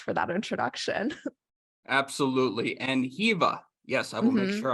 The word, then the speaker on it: Hiwa: that introduction it is I was born in Germany and in German W's are pronounced like these so it's just been this like awful curse that my parents have put upon me where I constantly have to explain that my name isn't pronounced like it's spelled um but thank you